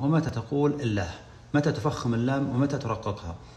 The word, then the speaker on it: الله: متى تقول في قراءة القرآن الله ومتى تقول الله؟ متى تفخم اللام ومتى ترققها؟ كثير من الناس ما يعرف كيف ينطقها ولا يعرف القاعدة فيها. القاعدة أن في قراءة حفص القاعدة أن لفظ الجلالة في كل القرآن مرققة، ما تقول يصلى الصلاة،